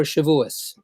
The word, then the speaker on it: Shavuos: is called greens for Shavuos and president spelled here s HEV u OS the yiddish pronunciate pronunciation of Shavuot we're looking forward next